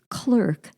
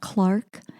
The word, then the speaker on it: Clarke: could you tell them that missionaries name is pronounced clerk not Clarke or you know things